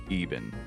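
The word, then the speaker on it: Iban: This self-proclaimed son of Zamorak is actually called Even.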